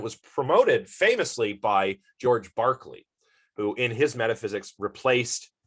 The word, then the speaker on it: Berkeley: little bit more about berkeley here or barkley it's technically pronounced barkley so george barkley was